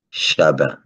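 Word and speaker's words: Chavín: alors chavin comme on va prononcer avec la phonétique espagnol levé donc deviendra b et on va dire chabin comme on dit en créole aujourd'hui alors aujourd'hui on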